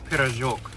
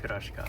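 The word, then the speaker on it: пирожок: It's a pirozhok, not pirashka, but pirozhok.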